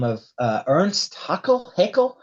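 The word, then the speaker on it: Haeckel: scientist um by the name of uh Ernest huckle Heckle how do you say it Omar Ernest Heckle yeah yeah right he used a term called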